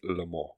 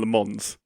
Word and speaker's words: Le Mans: think you've already got there that it is pronounced Lemon. Lemon. I keep Yes, I I keep going between Lemon and Lemons, but it is Lemon.